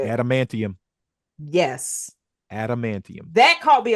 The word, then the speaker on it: adamantium: reference to antim how do you say it adamantium yes adamantium that caught me off guard she